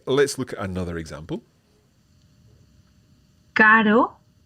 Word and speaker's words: caro: Caro, carro.